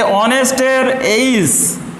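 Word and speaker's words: honest: তাহলে অনেস্টের এইচের উচ্চারণ এখানে অমিট আছে। এইচের উচ্চারণ অমিট থাকার পরে ও থেকে উচ্চারণ হচ্ছে অনেস্ট। ও থেকে উচ্চারণ হচ্ছে, এইচটার উচ্চারণ অমিট থাকছে, এখানে সাইলেন্ট থাকছে।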